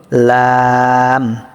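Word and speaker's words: ل: পরবর্তী হল লাম। লাম তিন আলিফ টান হবে। মাখরাজটা কি? জিহ্বার আগার কিনারা। জিহ্বার আগার কিনারা সামনের উপরের একপাশের দাঁতের গড়ার সঙ্গে লাগিয়ে লাম উচ্চারিত হয়।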